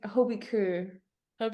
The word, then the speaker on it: HB Køge: it it's really hard it's like Hobie cob you kind have to like Mumble a bit at the end yeah it's kind of